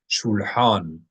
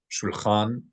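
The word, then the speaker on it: שולחן: Shulhan, a table. This is the regular word for table in modern Hebrew as well. Shulhan or shulchan in pop pronunciation, shulchan, like Shulchan Aruch.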